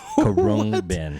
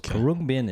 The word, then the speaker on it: Khruangbin: Karung Bin.